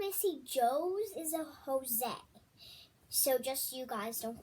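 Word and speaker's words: José: so he said that joe's is supposed to be pronounced jose and that is correct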